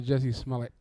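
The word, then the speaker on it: Jussie Smollett: Shout out to Jesse Smollett.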